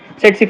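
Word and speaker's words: tsetse: इज the vector is सेट स फ्लाई इट इज नॉट t silent रहता है इसका इसका वेक्टर क्या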